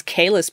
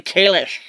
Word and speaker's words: Kahless: cuz it you know we all thought it was Kahless but no it's apparently Kalish well here's what I